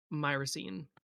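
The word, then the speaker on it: Myrosene: Myraine.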